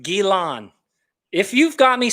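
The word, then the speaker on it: Ghislaine: is silent guillain guillan gilan maxwell am i speaking french now is it guilan spencer the s is silent gilan if you've got me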